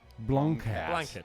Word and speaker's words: blanquette: It's a blanquette of veal with prunes. Now, it's pronounced like this. Blanket. Pigs in blankets.